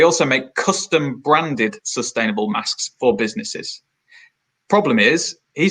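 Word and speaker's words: Maask: company in Brighton called masks and the reason I say it like that is because it's spelled em double a sk so the masks are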